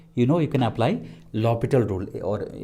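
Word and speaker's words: L'Hôpital: know you can apply lopital rule or usually it is written l hospital but we pronounce it as lopital or some some people they pronounce it as orbital okay so we'll we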